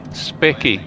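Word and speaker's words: Speccy: It's spelled S-P-E-C-C-Y, Specky.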